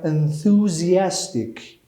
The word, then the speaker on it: enthusiastic: I am enthusiastic. Huh? Enthusiastic. Look at the pronunciation. ɪnଃ.zi.æz.tɪk. Enthusiastic about books. Enthusiastic about books. حواستون هم به تلفظ واژه باشه. می‌بینید در واقع دو تا استرس داره.